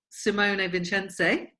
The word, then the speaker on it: Simone Vincenzi: So that's Simone Vincenzi.